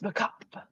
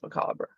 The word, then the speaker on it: macabre: He's like, "Oh, the dance macabre," but and then you get a move called the dance macabre. You're not supposed to pronounce the R.